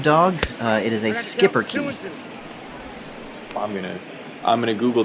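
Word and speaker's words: Schipperke: uh it is a skipper i'm gonna i'm gonna google that right now could you spell that for me uh it is a s-c-h-i-p-p it is not even spelled the way it sounds no it's one word i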